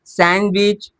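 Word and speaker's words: sandwich: बात समझ में आई तो ब्रिज, सैंडविच, वेडनेसडे, हैंडसम। बात समझ में आ गई? यहां पे क्या होता है? डी साइलेंट होता है।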